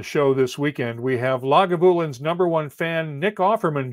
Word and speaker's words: Lagavulin: lagavulin and he says emphasis on the vu in lagavulin so we will have